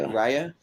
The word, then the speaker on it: Raya: Raya?